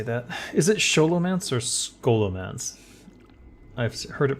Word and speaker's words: Scholomance: say that is it scholomance or scholomance I've heard it pronounced both ways but uh in narrator voice it it's scholomance because it's ch sholo like cholo Hans sholo Hans grber